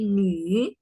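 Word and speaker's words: 女: Jadi bukan nu ya bacanya, tapi nu.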